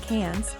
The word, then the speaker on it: Cairns: Cairns, hint, do as the Aussies do and pronounce it like Cairns, is a veritable natural wonderful.